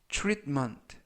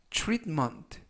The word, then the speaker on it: treatment: 뜻이 되겠습니다 2번 표현은 treatment treatment treatment라고 발음하시면 되겠고요 이때 발음에 유의하실 것은 TR 발음이 true 그래서 트트가 아니라 즉 가운데 부분에 있는 알파는 거의 발음이 나지 않습니다 음은 아니지만 그래서 트트가